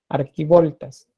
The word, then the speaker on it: archivoltas: Pueden encontrarlo como arquivoltas, pero también lo pueden encontrar como archivoltas. La pronunciación es la misma, arquivoltas.